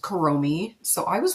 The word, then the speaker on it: Kuromi: Okay, and then I believe it's pronounced Kuromi.